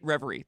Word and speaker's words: Reverie: and think I'm pronouncing this right. Reverie. Reverie.